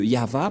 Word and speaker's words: Yahvah: et et va vah voilà le nom de yava prononcé par le grandpère m yava donc voilà nous